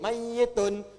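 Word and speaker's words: ميت: Makanya orang meninggal itu kalau belum meninggal kan mayit. Pakai tasdid mayyitun.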